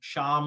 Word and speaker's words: Shyam: So this is a good way to pronounce my name, Shyam, like Shamala, right? Everyone is now able to pronounce my name because Kamala Harris's late mother's name was Shamala. So I'm Shyam.